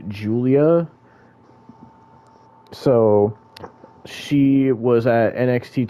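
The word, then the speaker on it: Giulia: to say her name, but apparently it's it's pronounced Julia.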